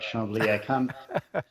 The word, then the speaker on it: Chambly: By the way, I'm impressed by your pronunciation, Echo. You got it right. Chambly.